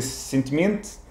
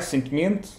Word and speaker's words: sentimento: Bem, nós podemos dizer sentimento. Sentimento. Eu agora exagerei, claro. Aí trocas o O final por um E. Por um E, sentimento.